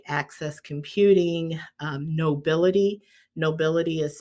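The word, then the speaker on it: Knowbility: work with organizations like access computing um nobility nobility is spelled k k-n-o-w b-i-l-i-t-y these are organizations that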